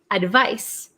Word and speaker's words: advice: seven is advice advice advice it has a c and it's pronounced like s sound a device and then